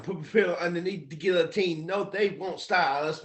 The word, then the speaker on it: guillotine: my pillow underneath the guillotine yeah exactly and that word is pronounced Guillotine by the way just so you know Guillotine like it's French for chopping off your head yeah a guillotine um